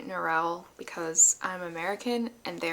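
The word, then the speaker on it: Norrell: Audi book so I know that it is pronounced noral and not nural although I wonder if it's okay to say nurel because I'm American and they are British so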